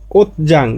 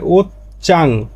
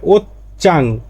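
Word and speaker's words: 옷장: এর আসল উচ্চারণটা হবে ওতচাং।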